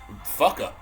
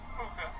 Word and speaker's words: Fuka: Fucka. And her name is Fucka. I mean, Fuka, but yes.